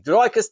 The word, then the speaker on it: Dricus: Dricus, the S is silent.